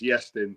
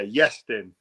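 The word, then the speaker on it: Iestyn: people get it wrong, so it's Yestin. But good effort there, definitely. Pronounce it again. Yeah, Yestin. Yeah, what origin is that from? It's Welsh.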